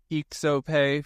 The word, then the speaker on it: IXOPAY: All right, TokenEx and IXOPAY, and it is pronounced IXOPAY for those who are not European inclined.